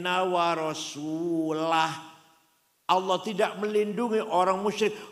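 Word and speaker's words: وَرَسُولُهُ: Wa annallaha bari'um minal musyrikin wa rasulih. Allah tidak melindungi orang musyrik dan tidak melindungi Rasulullah. Salah. Yang benar bacanya wa annallaha bari'um minal musyrikin wa rasulah.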